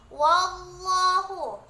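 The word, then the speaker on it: وَاللَّهُ: Wallahu, lafaz lam pada Allah dibaca tafkhim karena dia huruf sebelumnya berbaris fathah, jadi cara membacanya ditebalkan.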